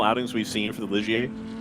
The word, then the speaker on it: Ligier: Is this one of the most successful outings we've seen for the Ligier? It's pronounced liger.